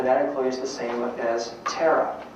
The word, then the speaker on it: Tara: employs the same as tara spelled ta ra which is the Buddhist goddess of compassion phonetically Tara is the same as terror Tula is called the